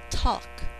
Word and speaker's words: talk: e large number 12 talk syllable they will talk on the phone talk you don't hear the l very clearly usually in speech so let me just